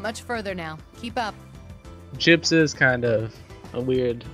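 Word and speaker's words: JP's: How do you pronounce that? J-P apostrophe... There's an I in there, Daichi. It's J-I-P-S. Gyps. Correct. Gyps.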